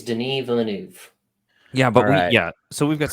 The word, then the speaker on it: Denis Villeneuve: All right, the official pronunciation: Denis Villeneuve.